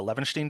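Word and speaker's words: Levenshtein: for us okay so problem one um it's pronounced uh Lenin distance this is edit distance between two strings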